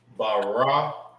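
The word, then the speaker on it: ברקת: It's Barakwath.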